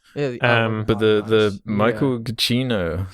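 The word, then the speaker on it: Giacchino: but the the michael gacchino so you say his name i've never known he says like chichino yeah i think i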